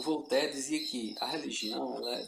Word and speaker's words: Voltaire: Um deles foi o Voltaire, outro francês, né, o Voltaire, né, se escreve Voltaire, mas se lê Voltaire.